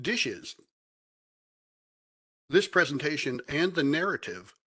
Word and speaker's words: DHSES: referred to by the acronym dhses pronounced dishes this presentation and the